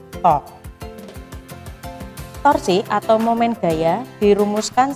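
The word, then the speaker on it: τ: Ini bacanya to.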